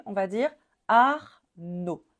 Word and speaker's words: Arnaud: son O parce que le D est muet donc on prononce pas le D on va dire Arnaud Arnaud pareil ici on ne